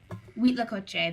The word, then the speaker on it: huitlacoche: Wheat lacoche. That's how it was. That's how I've had it pronounced to me before.